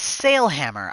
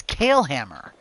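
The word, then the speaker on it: Cael Hammer: You do say it is sail hammer. I don't really like that. The way that's written, I would pronounce that as kale hammer. But okay, sail hammer it is.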